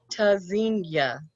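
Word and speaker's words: Tzynya: Pronounced tazinya, verb from Hebrew, meaning to listen for or hear. Spelled T-Z-Y-N-Y-A. The first letter T is a stop. Disrupts airflow.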